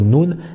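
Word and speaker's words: ن: Alors la lettre Noun hein, que je vous ai mis ici, c'est comme le N en français, naninou, donc ce n'est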